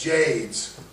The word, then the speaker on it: Jades: I know it rhymes with shades. It's not shades. It's jades.